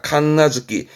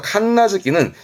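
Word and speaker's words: 神無月: 발음은 칸나즈키입니다. 칸나즈키. 신이 없는 달이다. 이게 뭐냐면 한국에서도 음력으로 이 달을 말하는 게 있거든요. 예를 들어서 뭐 11월이면은 동짓달 그러고 12월이면 섣달 그러고 하는데요. 일본에서 칸나즈키는 10월입니다.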